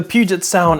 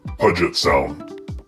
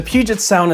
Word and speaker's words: Puget Sound: a Puget Sound was I actually pronounced it incorrectly I I I pronounced it pet sound don't judge me but anyways the Puget Sound is actually a body